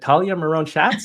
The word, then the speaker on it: Talya Miron-Shatz: And rounding out our panel today, we have Talia Maron Shots. You should say it. Talia Maron Shots. How do you pronounce your name?